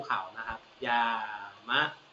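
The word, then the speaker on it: 山: ภู เขา นะ ครับ ยามะ อ่าน ว่า ยามะ นะ ครับ ยมะ กะ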